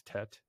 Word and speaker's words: Tet: I believe the pronunciation is Tet. Is that correct? Name?